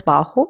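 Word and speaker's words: bajo: Both the words baho and baja mean short. Also remember that J has the pronunciation of her.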